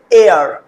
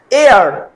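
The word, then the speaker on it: hour: এয়ার, এয়ার। দেখো ভায়োলের মতো উচ্চারণ হচ্ছে না, কারণ এইচ লেটারটার সাউন্ড একদম টোটালি সাইলেন্ট, এয়ার, রাইট?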